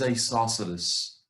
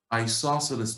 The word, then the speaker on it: isosceles: triangles what's the second one how do we pronounce this it is isosceles isosceles triangles I saw such as triangles that they